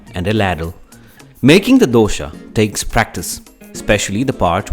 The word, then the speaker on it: dosa: is a pronunciation lesson dosa although written like this is pronounced in different ways across india you can call it dosa dosai and the variations go on a dosa is made